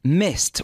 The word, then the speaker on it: missed: which is missed perfect missed one syllable and the strong T at the end mist is when it